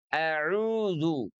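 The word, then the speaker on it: أَعُوذُ: Auzu a huruf hamzah itu diucapkan dari pangkal tenggorokan kita. Aqsal halqi. Ya, dengan sedikit penekanan karena memang dia memiliki sifat syiddah. A a dan dia berada dalam posisi fathah.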